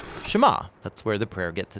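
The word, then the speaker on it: שְׁמַע: Now, the first word of the Shema is hear or listen, which in Hebrew is pronounced Shema. That's where the prayer gets its name. Now, Shema is a really common word in the Hebrew Bible, and it's obvious why.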